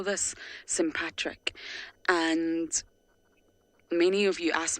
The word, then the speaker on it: sympatric: cohabit the same space and we call this sympatric and many of you asked me about that word so I'll spell it for you sym patr I see sympatric so they live sympatric Li which means they